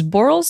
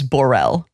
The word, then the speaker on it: Boral: just don't acknowledge that you always say his name as borell and we don't pronounce it that way ever so that's the way